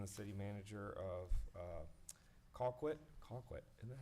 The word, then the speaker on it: Colquitt: Colquitt, isn't that how you say it?